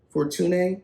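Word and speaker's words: Fortuné: uh danielle badou fortune for tuning it's spelt like fortune but it has a little accent over the e at the end a trinidadian poet artist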